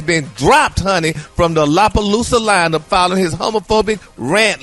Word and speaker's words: Lollapalooza: Lollapalooza. You better remix that name, boy. You left out a few oh syllables, my gosh. It's Lollapalooza.